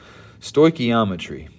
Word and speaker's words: stoichiometry: i've never actually done a phonetic breakdown before stoichiometry all right that's how you pronounce this word it's a fancy way of